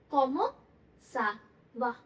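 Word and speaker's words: comment ça va: हाउ आर यू को हम क्या बोलते हैं, कॉमो सा वाह।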